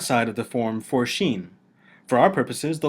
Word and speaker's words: shin: The letter Shin is best treated like the SH sound in a word like shovel.